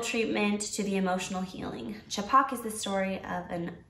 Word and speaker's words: Chhapaak: two of them yeah that's how you pronounce it right I think it's chipak chipak yeah which means Splash it